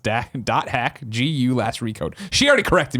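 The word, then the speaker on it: .hack//G.U.: and says on yesterday's show you said the dot hack slash slash GU dot last recode released yesterday but it actually really stay on PlayStation 4 and steam also the title is pronounced dash dot hack GU last recode she already corrected me on that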